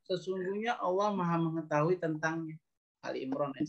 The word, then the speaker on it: Ali Imran: Kita buka sekarang Ali Imran ayat 92. Ayat 92. Surat Ali Imran itu surat keberapa? 3. Ali Imran bacanya jangan Al Imran ya.